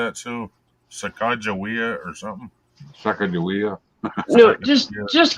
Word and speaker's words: Sacagawea: name is Chicago yeah because they use the Mandan pronunciation but anywhere else you see her name even like on the coins and stuff it's Sacagawea because that was her appropriate name for her tribe her name yes Sacagawea